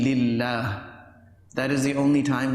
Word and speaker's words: lillah: Yes, if it is preceded by a kasra, then it could be lillah.